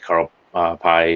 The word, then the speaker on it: Carl Pei: OnePlus is kind of faded with Carl Pei, or however it's pronounced, Correct.